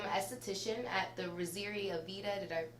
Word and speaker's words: Aveda: She is currently in school to become an esthetician at the Rosiri Aveda. Did I pronounce that right?